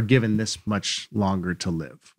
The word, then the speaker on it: live: I pronounce it live. It's live. Right.